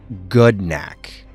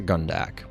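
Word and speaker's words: Gnak: real quick correction and I quote gnack not gunak gnack which means war in the orcish language official pronunciation guide in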